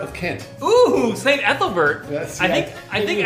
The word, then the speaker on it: Ethelbert: they ate the Christians right how do you pronounce that Apple Bert of Kent oh saint ethelbert yes I think I think ethelbert was also